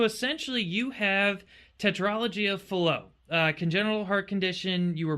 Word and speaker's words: Fallot: mean, really, Pulmonary with tetralogy of and flow, with or tetralogy of flow, pulmonary atresia. I never can get it right. It's one of the two. It's reverse. I've always been saying it wrong my whole life.